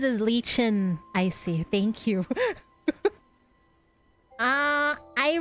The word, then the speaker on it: Lichen: I'm Lichen. Young friend, do you remember me? It's pronounced as Lichen, I see.